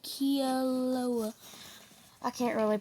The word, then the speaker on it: Kilauea: You say them like this: Mauna Loa and Kilauea.